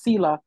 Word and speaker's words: Selha: They want to pronounce every letter and it's the H is silent. So it's Selha, like singing.